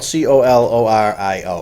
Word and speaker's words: Colorio: And that's spelled Colorio. Yeah, like color. Just kind of like it sounds.